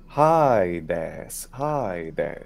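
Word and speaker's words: ᾍδης: Well, that is, in classical restored pronunciation of Greek, Hades. And it's Hades. Very strange, because it has an iota in it. Now, this is it's an iota adscript, meaning an iota that's written after it, or an iota subscript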